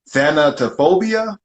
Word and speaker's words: thanatophobia: a step further which is called uh thano thanatophobia i think that's how you pronounce it you said it right you said